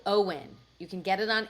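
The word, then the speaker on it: OWYN: It's like O W YN. O W Y N. Owen Owen. O W YN. It's not spelled like the name.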